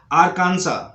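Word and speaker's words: Arkansas: उसके बाद जो है इसको बोलते हैं आरकांसा, आरकांसा, आरकांसा। नेक्स्ट है इलिनॉय, इलिनॉय, इलिनॉय। तो यहां पर एस साइलेंट है।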